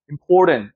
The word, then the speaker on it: important: 힘줘서 턴트라고 읽으면 절대 안 돼요. important. 쭉 올라갔다가 어떻게 되죠? 하고 이렇게 내려오는 거죠.